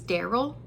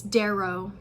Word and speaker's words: Darrow: the main character's name was Daryl, which is fine. It's a cool name, but like the other names in the book are like Eo and Kieran and many other things that I can't even pronounce or I guess spell. Yeah, it's Darrow.